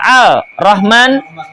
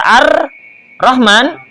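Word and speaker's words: الرحمن: Walau khaffafa qadirun au ajizun muqassirun musyaddadan ka'an qara'a al rahman bifakil idgham batalat salatuhu. Seandainya seorang yang mampu membaca dengan fasih atau lemah meringankan bacaan yang ditasdid, misalnya Al-Rahman harusnya dibaca Ar-Rahman tanpa idgham, maka sholatnya batal.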